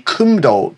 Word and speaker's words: Kumdo: it's actually a Kumdo tournament. It's in the US, I believe. Kumdo is the Korean pronunciation.